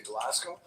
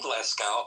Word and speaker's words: Glasgow: Oh, I heard in that you were potentially going to Glasgow. Hello. We're going to Glasgow. Okay. Okay. First, let's work on how the locals say it. It's Glasco.